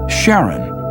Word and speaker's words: Charon: Christie suggested the name Charon after the ferryman of Pluto's underworld in Greek mythology, but preferred to pronounce it Charon, more like his wife's name, Charlene.